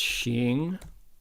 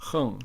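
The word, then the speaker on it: 行: This is, the word is pronounced Xing or Heng, depending on whether it's a noun or a verb or a noun.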